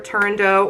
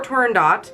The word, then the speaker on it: Turandot: He died before he could finish the opera Turandot or Turandot. Apparently there's no incorrect way to say it.